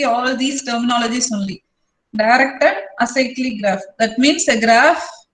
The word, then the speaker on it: acyclic: If a graph does not contain cycle means then that is called as acyclic graph. Pronounce it like this. Acyclic is also okay, but acyclic.